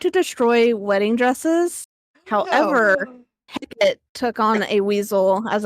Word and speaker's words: Hecate: However, Hecate took on a weasel as a familiar. So I think that's just for Interesting. jilted lovers. They just destroy the Uh-huh. wedding dresses, but, weasel. Wait, did you Hecate or Heck?